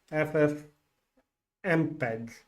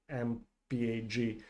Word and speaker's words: FFmpeg: the video uploads because my ff mpeg that's how you pronounce it it's not mphg so ffmpeg is not